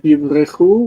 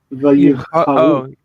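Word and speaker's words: ויבחרו: Not yivrechu, which is like they ran away, but vayivcharu. Vayivcharu bo lemelech alehem ka'asher diber Adon Shmuel, yeah.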